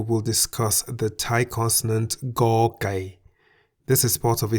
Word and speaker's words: ก ไก่: The Thai consonant Go Gai sounds like the G in the word get at the beginning and end of a syllable. Go. As Go Gai is a stop final